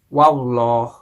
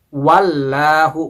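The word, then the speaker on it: والله: Nah, cara bacanya kalau ini dibacanya adalah, karena di depannya ada tanda baca wakof, dibacanya menjadi walloh. Seperti itu ya. Bukan wallahu, bukan ya, tapi menjadi walloh ya. Walloh cara bacanya.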